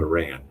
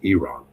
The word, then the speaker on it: Iran: It's not Iran, it's Iran.